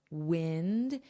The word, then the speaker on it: wind: So I pinned a comment on YouTube, pinned, wind, it's the same sound.